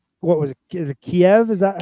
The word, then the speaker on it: Kyiv: Is it Kiev? Is that how you say it? So Kyiv.